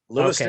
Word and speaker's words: Lewiston: Is that how you pronounce that, Mike? Lewiston? That is Lewiston, okay.